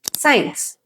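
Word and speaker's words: science: ಆದ್ರೆ ಸಿ ಇದ್ರೂ ಕೂಡ ಅದು ಸೈಲೆಂಟ್ ಆಗಿರೋದ್ರಿಂದ ನಾವ್ ಅದನ್ನ ಪ್ರೊನೌನ್ಸ್ ಮಾಡ್ತಾ ಇಲ್ಲ. ಸೊ ಇದನ್ನ ಕರೆಕ್ಟ್ ಆಗಿ ಹೆಂಗ್ ಪ್ರೊನೌನ್ಸ್ ಮಾಡ್ತಾರೆ ನೋಡಿ. ಸೀನ್, scissors, muscles, ಸೈನ್ಸ್.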